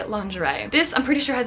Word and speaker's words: lingerie: So the word is lingerie. For anybody who has studied French, you probably already noticed the really weird thing about the pronunciation there, because in French this should be lingerie.